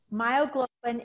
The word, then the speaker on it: myoglobin: turkey and light meat myoglobin is in the dark meat it rhymes with hemoglobin it actually has oxygen